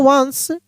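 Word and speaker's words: once: देखिए यहां पे लिखा है ओ एन सी ई इसको पढ़ेंगे वंस यू पी ओ N upon upon एक नियम बताए थे हम।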